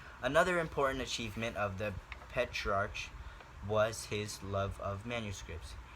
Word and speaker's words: Petrarch: all things the father of humanism was petrarch petrarch that's a weird name petrarch it's spelled p-e-t-r-a-r-c-h petrarch he was able to cause